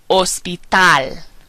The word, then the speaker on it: hospital: word er means hero notice that we're not pronouncing the H ER ospital Hospital hisor history umor humor or horrible with